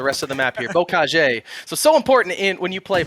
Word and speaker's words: Bocage: I believe it's Bocage. Bocage? Okay. But I'm not 100% on that. Bocage, according to Jim's. That's what we're going to say for the rest of the map here. Bocage.